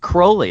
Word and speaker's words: Crowley: now you pronounce it Crowley as that is that the actual pronunciation of his name yeah cuz it rhymes with unholy Oh what's about it